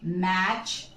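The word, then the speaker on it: match: हमारा रूल कहता है टी before ch, then this t is silent।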